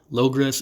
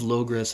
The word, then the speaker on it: Logres: As far as I can tell, it is pronounced logress, and if this is correct, I hear some kind of echo of the locusts from stanza 1.